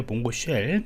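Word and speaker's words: mongosh: 리라고 하는 것 있습니다 몽고 SH고 이야기했는데 몽고 쉘 뭐 이렇게 발음하시면 될 것 같습니다 그래서 요거를 이렇게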